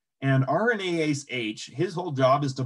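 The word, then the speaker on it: RNase H: rna ace h so it's pronounced with two a's but there's only ever one a and sometimes they capitalize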